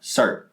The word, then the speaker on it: Sartre: Sartre. Is that like a... Jean-Paul Sartre. He's an existentialist. Okay. Is it spelled like Sartre?